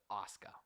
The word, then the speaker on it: Asuka: I thought it was Asuka. No, it's Asuka. Asuka is Asuka. That's how you say it. Yeah, Asuka. My life. The U, yeah, the U is silent, and I guess.